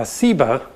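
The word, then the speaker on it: Seba: scholars think is related that has just a different s sound uh siba doug explains that sheba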